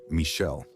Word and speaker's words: Michel: Yes, I'm attempting the Italian accent, but we'll use the French pronunciation, Michel.